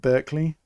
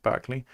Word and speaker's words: Barclay: The one in Scunthorpe, the Barclay, or well, I think locally people call it Berkeley, but I think it's supposed to be pronounced Barclay.